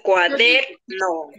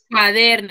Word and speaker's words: cuaderno: Yo digo cuaderno o yo digo cuaderno. No, dice cuaderno. Cuaderno. Entonces, mi sílaba tónica está ubicado en, esta es la ST simboliza sílaba tónica, está en der, ¿cierto?